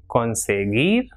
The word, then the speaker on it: conseguir: And GUI is pronounced as gi. So we have examples for this pronunciation, words like guitarra, conseguir, or guiar.